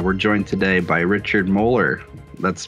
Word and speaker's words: Moeller: on screen uh we're joined today by richard mohler that's pronounced correctly right richard mohler yep you got it perfect um today's episode